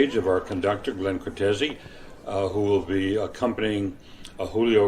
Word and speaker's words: Cortese: Am I pronouncing that right, or is it Cortez? That is right. Cortese, yes.